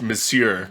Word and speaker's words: Monsieur: The word is pronounced Monsieur. Monsieur, It's French.